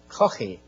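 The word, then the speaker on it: Caughey: That's spelled C-A-U-G-H-E-Y. In Ireland, we'd call that Coffey with a guttural, but most Americans can't say Coffey, so they say Coffey.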